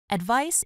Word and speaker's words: advice: Advice is an opinion or suggestion about what someone should do. You can give or receive advice. Here's a tip on pronunciation. Advice rhymes with rice or mice.